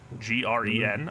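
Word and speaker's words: Sjögren: I looked it up, how to say it in Swedish. That's very impressive, sir. Yeah, I mean, that SH makes a cho sound, so, or a CH, I guess, according to Google.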